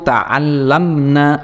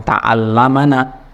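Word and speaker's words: تَعَلَّمْنَ: Nah, dari kata ta'allama yang aslinya adalah fathah, ya, mabni fathah, kemudian karena kemasukan dhamir nun jamak muannas ini jadinya bukan ta'allamana tapi ta'allamna. Ingat, nanya ini pendek, ya, yang menunjukkan perempuan.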